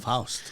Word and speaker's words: Foust: Foust.